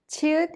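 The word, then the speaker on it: 치읓: Chiut is an aspirated sound with the burst of air, and it has the CH sound like in the English word chapel. Iung is silent when used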